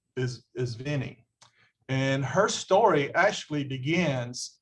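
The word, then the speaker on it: Vine: It was V-I-N-E or V-E-N-E, and it's pronounced is Vinnie.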